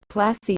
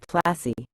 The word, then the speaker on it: Plassey: Plassey is an anglicized pronunciation of Palashi, and the place derived its